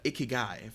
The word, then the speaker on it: ikigai: last little bit here what exactly is uh ikigai am i pronouncing that correctly pronounced it beautifully and thank